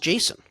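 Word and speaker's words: Jasson: We you made fun of it and I never realized why is why is it pronounced Jason?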